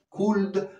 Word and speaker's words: could: Can, could, igual, could. No se dice, se dice could, may and might.